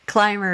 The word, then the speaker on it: Clymer: And interestingly enough, Climber is built, it's spelled Clymer.